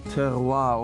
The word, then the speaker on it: terroir: But when you really squeeze out the essence of your terroir, of your vineyard, that's when you certainly taste the difference. What is that word you just said? Terroir, that's the French way of pronouncing it.